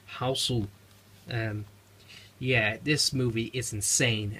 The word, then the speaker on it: Hausu: House, or as the Japanese title pronounces as Hausu.